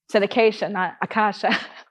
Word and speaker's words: Acacea: in his work because he could pronounce my name right Akasha he said Acacia is